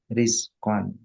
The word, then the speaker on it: رزق: المتفرد بالخلق والرزق والتدبير bukan rozak الرزق rizki ya, rizki apa bahasa Arabnya? Rozaka والرزق yarzuku rizqan, ya kan? رزق Asalnya roknya di kasrah. Ulangi lagi. dibacanya rizqa Fakama annahul mutafarridu bil khalqi wa rizqi wa tadbiri.